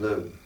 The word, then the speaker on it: Lugh: I pronounce it Lugh.